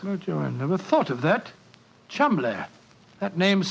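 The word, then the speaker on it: Cholmondeley: Being an American, he had no reason to know that the name Chumley is in no way pronounced the way it is spelt. But I never thought of that. Chumley.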